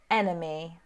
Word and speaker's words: enemy: which e is it so you've got to say first e or second e enemy enemy okay so one two three shay and over the moon all saying second e anyone else stacy agrees